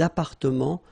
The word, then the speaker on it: appartements: Remember, final S and final T are not pronounced here. Des appartements, little liaison here, des appartements en copropriété.